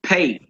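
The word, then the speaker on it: פ: as in park and it's called a pay pay all right now pay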